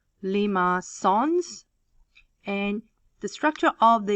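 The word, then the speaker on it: limaçon: is what we call lima songs this is some french word with this little little accent at the bottom um it's pronounced lima sons and the structure of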